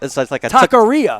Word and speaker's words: taqueria: No, it's like a taqueria.